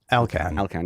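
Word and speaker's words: Elkann: So in the chat, I said, I've given the Discord the opportunity to defend Elkin. I said, am I saying that right? Elkan, yeah. It said, does anyone you pronounce it like an Italian?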